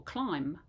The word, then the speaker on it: climb: n on the end or limb or climb we don't pronounce a b sound on the end although it's kind of